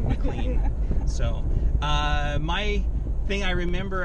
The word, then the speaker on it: McLean: McLean. Correct. All right. And I got the pronunciation right? You did. Okay. I was really hoping it was McLean, like John McLean from Die Hard, but...